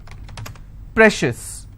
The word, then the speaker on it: precious: Precious. How many syllables again? Precious. I will stress on pre.